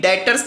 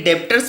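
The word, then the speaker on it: debtors: होता है Sunday daughter यहां पर बी वर्ड साइलेंट होता है आपको संदी डॉटर्स बोलना है आप यदि संधि देबटोर्स बोलते हैं तो वो गलत है आपको संदीप दर्स ही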